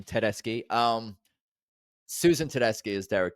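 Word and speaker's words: Tedeschi: I host the unofficial Tedeski Trucks Italian pronunciation, Tedeski.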